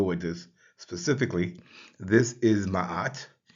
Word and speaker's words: Ma'at: So the ship's stern and foundation is identified or transliterated with the letters MA, pronounced Ma. Then we have the arm and hand and the loaf of bread, which is transliterated with the letters AT. And together that would give us ma'at.